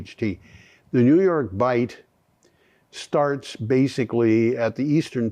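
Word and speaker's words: Bight: area in New York bite now just so people who don't know know New York bite bite is spelled b ght um the it's not a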